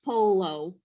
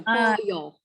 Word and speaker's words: pollo: The LL changes to a Y sound for us, like yo-yo. Yeah. So if you see pollo, we're not going to call it polo, right?